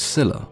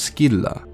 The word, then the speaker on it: Scylla: The version that is most commonly used today in English is Scylla, with a soft sound in C, but as we already know, the soft sound in C replaced the K in many Greek words, and sometimes these words